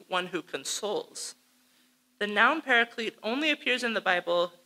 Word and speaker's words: paraclete: a really important one paraclete which john uses to describe an important role of the holy spirit so paraclete is the english pronunciation of parakletos a greek word made by combining pera